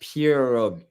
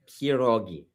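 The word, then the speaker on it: pierogi: Yeah, it's pronounced pureogi. Perogi, not perogi.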